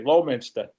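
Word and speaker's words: Leominster: the hill, or Yeah, the locals say Lowminster.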